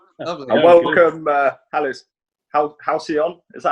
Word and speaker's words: Halcyon: And welcome, Halcyon. Is that how you pronounce it? Yes. Halcyon, yeah.